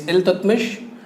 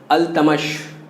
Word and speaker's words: Iltutmish: His name is Iltutmish, and in Urdu it is pronounced as Al-Tamash.